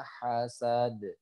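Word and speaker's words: حَسَدْ: Dan terakhir adalah huruf dal yang sukun karena waqaf dia harus dipantulkan. Jadi bacanya wa min syarri hasidin idza hasad.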